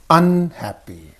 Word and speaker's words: unhappy: here you pay attention stress is usually on the first part only on the first part how here see unhappy this is a prefix